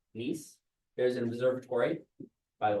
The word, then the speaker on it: Nice: It's spelled Nice, but it's the place in France, Nice.